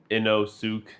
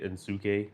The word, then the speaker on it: Inosuke: It's not Inosuke. It's actually Insuke.